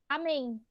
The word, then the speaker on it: amém: Por exemplo, amém. Amém. Qual que é a sílaba mais forte aí? Em amém. É o MEI? Chama. É o men. Percebam que o men é a última sílaba, não é?